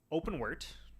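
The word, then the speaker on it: OpenWrt: I was running OpenWart. That's how I pronounce it.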